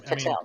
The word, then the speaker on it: Patel: Head I can't pronounce it. FBI. And people forget Kash Patel, which it's Patel.